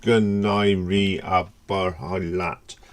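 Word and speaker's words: Go n-éirí an bóthar leat: It really think it's pronounced Gunairi Abarhalat, something like that.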